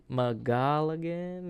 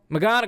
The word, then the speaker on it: McGonagall: to do this who professor uh magaligan i gotta how do you say this name amy mcgonagall mcgonagall thank you she's like i've always